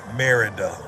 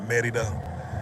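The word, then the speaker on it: Mérida: Merida is how we would say it in the States. Merida, but in Mexico pronounced Merida.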